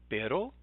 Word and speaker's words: pero: pero, which is different than perro.